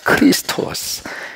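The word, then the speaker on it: Χριστός: 가장 중요한 크로 크라이스트 크리스토스 그 이제 원래 발음이 크리스토스 크리스토스 그 이제 원래 발음이에요 한번 해 보세요 크리스토스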